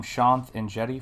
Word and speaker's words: Shanth Enjeti: is shontan jetty art i am shanth and jetty for those of you curious how that is pronounced i hope all of